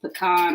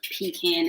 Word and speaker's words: pecan: my granny does like the pecan or pecan as some people pronounce it pie sweet sweet potato